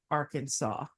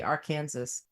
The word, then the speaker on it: Arkansas: a law in Arkansas that Arkansas must be pronounced Arkansas so if you go to Arkansas and say Aransas you're in big trouble mister right I think